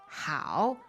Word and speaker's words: 好: It is, 好, 好. okay, that means good. It also means fine, Okay. great, okay. Right. All right, and what tone is that? Third tone.